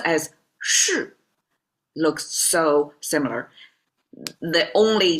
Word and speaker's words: 士: The two soil and this one is sir pronounced as sh looks so similar.